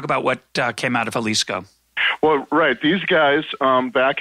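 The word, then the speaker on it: Xalisco: coast now read and it's spelled with an X X al is Co the Jalisco right not to be just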